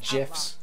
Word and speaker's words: GIFs: gifs animated mouse pointers and amazingly useful he pronounced it jiffs is a portal back to the early days